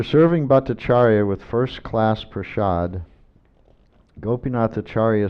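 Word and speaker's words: prasad: a is prad sh like an S with an sh but it's not spelled that way it's spelled prad so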